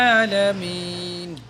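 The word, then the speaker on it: الْعَالَمِين: এখন এই যে আইন জবে, আইনের উপরে খাড়া জবর আছে, আলামিন। আইন ভিতর থেকে নিতে হবে, উচ্চারণ করতে হবে ভিতরে, গলার নিচ থেকে। আলামিন, আলহামদুলিল্লাহি রাব্বিল আলামিন।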